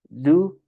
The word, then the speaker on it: do: Entonces es do, does, ¿ok?